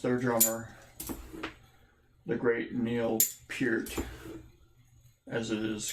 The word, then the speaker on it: Peart: Lost their drummer, the great Neil Peart, as it is correctly pronounced.